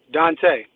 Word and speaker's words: Donta: pronounced the correct way is it dante or donta dante dante okay all right so